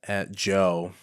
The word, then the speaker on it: Djo: He does music under the name DJO. Gotcha. At Joe is how you pronounce it.